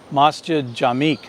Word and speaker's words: Masjid Jamek: Oz Latif has written in and told me that I should be pronouncing it as masjid jamek I think I'm saying that correctly so mustard